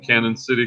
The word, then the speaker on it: Canyon City: Val's in Canyon City, Colorado. It's actually pronounced Canyon. It just looks like Canon.